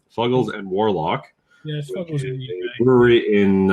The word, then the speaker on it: Fuggles: one is from uh fugles or fugles however you want to pronounce I've heard people say it both ways I'm pretty sure it's fugles though fugles and warlock yes Brewery